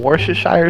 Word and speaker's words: Worcestershire: Are you from Worcestershire sauce?